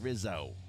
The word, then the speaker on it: Rizzo: mayor of Philly Frank Rizzle really you got to say it like The Jerky Boys Frank Rizzo Jeremy see with the